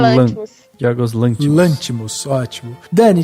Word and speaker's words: Lanthimos: Eu acho que como fala, a sílaba tônica é no Lanthimos.